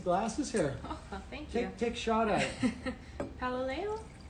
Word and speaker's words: Paololeo: here oh thank you paloleo all right that's pretty good rhymes with galileo i don't know i